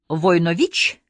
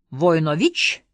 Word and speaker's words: Войнович: на меня и спросил с ударением на последнем слоге войнович я удивился что он